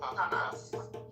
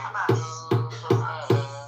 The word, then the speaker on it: Hamas: Hamas. No, Hamas. Yeah, I wanted to. it's not ha. I understand probably muscles in the back of your throat, like the ha sounds, whereas English, most of